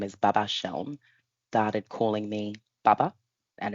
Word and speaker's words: Seun: So I'm accustomed to saying it's pronounced Sheln. It's like saying shell with an N on the end, Sheln.